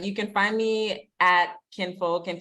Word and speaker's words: KINxFolk: So I do have an IMDb, but you can find me at KINxFolk, and KINxFolk is spelled KINxFolk on IG. The X is silent, and I'll tell you guys why the next time I'm around.